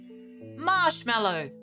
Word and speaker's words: marshmallow: don't ask me why we all say marshmallow but it's spelled with an a it's English exploring haunted